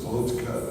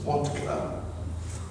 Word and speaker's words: vodka: The wine for the traditional Russians the vodka. They don't pronounce it vodka. They pronounce it vodka.